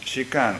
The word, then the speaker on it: shikan: a different meaning and she can written with the same ideographs that means retaining the same meanings when it is pronounced she can it means just or